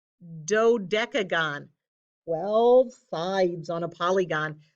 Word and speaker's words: dodecagon: have oh goodness gracious well sides this is pronounced dodecagon dodecagon all fives on a polygon means it's a